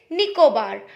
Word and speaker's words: Nicobar: and the second name of the island is nicobar n-i-c-o-b-a-r nico bar okay so the first one is andaman and the second one is nicobar okay now the fourth part is c's here